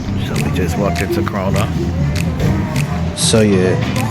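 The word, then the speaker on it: Krónan: the house so we just walked into Crona so yeah it's pronounced kronum and it's one of the Iceland's cheapest grocery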